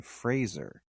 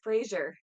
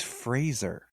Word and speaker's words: Fraser: Yeah, why did, when I just saw a thing, he was like, my name is Brendan Fraser, like Razor.